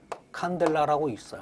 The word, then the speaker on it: 칸델라: 자, 광도는 우리가 단위를 칸델라라고 읽어요.